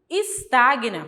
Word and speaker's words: estagna: e Sagna será não O correto é falar repugna resina estagna E por quê Porque uma consoante nunca pode ficar sozinha não a sílaba então se